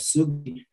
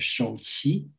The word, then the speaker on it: Sugi: And you talk about this bibliographical problem because the Korean monk I mentioned called Sugi, the Chinese will pronounce as Shouqi, right? This is Shouqi, that two characters.